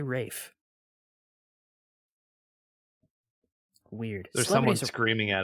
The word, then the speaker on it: Ralph: fines there it is it's spelled Ralph but I've heard people say Rafe weird there's someone screaming